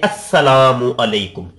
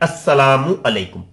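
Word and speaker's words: السلام عليكم: अल सलाम, ये असल में है अल सलाम, ठीक है। आप इस तरीके से समझ सकते हैं, अल सलाम, जिसको आप कहते हैं अस्सलामु अलैकुम, ये लाम साइलेंट हो जाता है, ये लाम साइलेंट, अस्सलामु अलैकुम।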